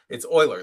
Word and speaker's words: Euler: Oh, I'm pronouncing the name wrong. Okay, it's Euler.